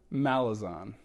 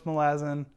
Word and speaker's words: Malazan: wanted to do today in mispronouncing fantasy names malazon i'm sure i'm making people crazy with that one malazan i know i know it's malazan all right we're going